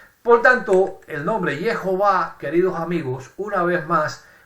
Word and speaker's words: Jehová: nos muestra hasta la saciedad que y a Jehová es la pronunciación correcta de nombre divino esto nos muestra